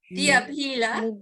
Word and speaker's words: diapila: Remember, it's a hard P, so diapila.